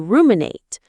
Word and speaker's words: ruminate: You might start to ruminate on a mistake you made or a worry about the future. Let's revisit this important word. Ruminate. Ruminate. Stress on the first syllable.